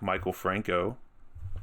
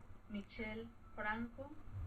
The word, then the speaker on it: Michel Franco: Moonfall is directed by notorious hack Michael Franco. How do I pronounce that? Michel Franco.